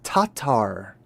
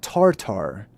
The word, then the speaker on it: Tatar: So the entire word is tatar. Tatar. So the tatars. Interesting. So it's not tartar.